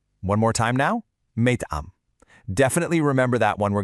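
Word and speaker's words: مطعم: It's pronounced meyt'am. One more time now, meyt'am.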